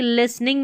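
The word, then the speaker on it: listening: एल आई एस टी यहां पर T silent है तो एल आई एस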